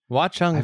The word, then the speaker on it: Watchung: Watchung Valley is that I've seen that. I've seen that a million times. I never know how to pronounce it. Say it again. Watchung. Watchung Valley and Mountain Ridge.